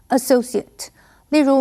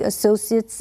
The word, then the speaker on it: associate: 这篇文章的第一个重点，我们看 associate 这个名词，SOCI 这个字根有同伴的意思，所以 associate 在这里是指朋友、同事、合伙人或者是生意伙伴。注意，当它当名词的时候，CI 后面的 A 是发的音，念成 associate。例如，Mark became one of the associates of the law firm last year.